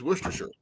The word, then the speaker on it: Worcestershire: say it literally how you say it is worcestershire well here's the thing right there see yeah